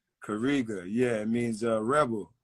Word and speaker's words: Kariga: first name is kariga k-a-rigo that's how you spell it right kariga yeah it means uh Rebel and uh it's